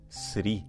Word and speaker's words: Sri: Quem quiser aprofundar isso, existe um famoso estudo de um teólogo leigo chamado Edward Sri. Sri se escreve S-R-I.